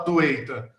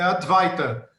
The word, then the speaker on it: Advaita: Esse Adwaita que você está falando é muito curioso, porque assim, é transportado para o inglês, é sânscrito transportado, não dá para você falar Adwaita, é Advaita.